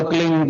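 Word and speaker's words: क्लीं: उस होता एक शब्द क्लीन शब्द आधा ल में मिलावा बड़ी की मात्रा और बिंदी उसका उच्चारण होगा क्लिंग ग कीले पीछ आप अंग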